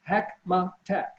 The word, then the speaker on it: Hackmatack: Hackmatack. It rhymes with Big Mac attack. So yes, it's 3 syllables, Hackmatack.